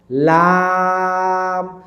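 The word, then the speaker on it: لام: আপনার জিহবাটা কিন্তু সামনের উপরের দাঁতের মাড়িতে লাগবে। এভাবে লাম লাম।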